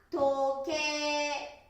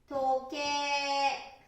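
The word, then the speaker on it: 時計: 4 番、ね、 4 番は時計。時計ですね。でも発音は時計。時計。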